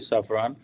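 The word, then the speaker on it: Safran: सफ़रान obviously इसकी exact pronunciation यही होगी सफ़रान, कि वो जॉइंटली जो है वो डेवलप करे, डिज़ाइन करे, मैन्युफैक्चर करे इंजन्स जो कि इंडिया को दिए जाएंगे।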